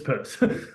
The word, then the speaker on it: Peirce: you think Pierce it's purse um I wish it weren't that way it would be much easier if it was pierce but but it's it's purse um his work span